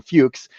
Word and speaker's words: FLUQs: mentions where I'll I'll clean up the the pronunciation. We'll call them fuches.